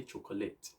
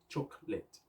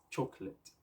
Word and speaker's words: chocolate: chocolate but we still do how do we pronounce that word a lot of people say chocolate but it is you have to call it together contrast together chocolate chocolate okay by the time you are talking about